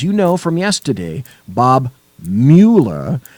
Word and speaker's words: Mueller: Well, as you know from yesterday, Bob Mueller, not Mueller, Mueller is pronounced Mueller, okay, not Bueller, decided that he, on his own, was going